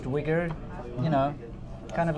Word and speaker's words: Uyghur: bit of a weird spelling there but it's pronounced wigger you know kind of like a white guy with dreadlocks yeah anyway it's pronounced Weger and if you search for it find something